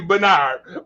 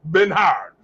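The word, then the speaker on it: Bernhard: It's supposed to be Bernard, but it kind of spelled like Ben Hard.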